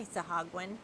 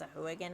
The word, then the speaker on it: Sahuagin: I say Sahagwin, but it's pronounced Sahuagin on the D&D Beyond, so I'm going to say Sahuagin.